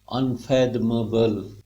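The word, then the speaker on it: unfathomable: अनफैद, फ साउंड पे स्ट्रेस है, फैथमेबल, अनफैथमेबल, बोलिए अनफैथमेबल, अनफैथमेबल, स्पीड पे बोलेंगे, अनफैथमेबल।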